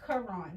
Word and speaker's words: Karon: It's Karon, like the Holy Quran. It's Karon. And my page is open. You can shoot me a text or a DM. And I also have a website. It's Karon.